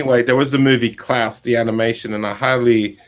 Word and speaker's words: Klaus: Stop motion it's just called Klaus. Gloss. As in claws pronounced differently. It's Is that spelled, what- I think it's spelled Klaus. Oh, right. So it's like your German friend, Klaus.